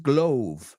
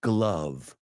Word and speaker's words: glove: Ojo con la pronunciación, no es glove. It's glove.